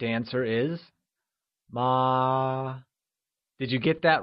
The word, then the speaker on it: mā: The correct answer is ma. Did you get that right? Ma. Great! So remember, mother, which translates to ma, is said with a constant high-level tone, also known as the first tone.